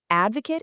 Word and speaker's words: advocate: Listen super closely to that contrast, okay? To do the action is to advocate, but to be the person is to be an advocate. Nailing that shift from the kate sound to the cut sound, that is your absolute